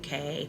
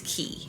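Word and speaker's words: cay: I say this because it's pronounced here for locals it's key so even though it's spelled like hey for locals it's key it's key even with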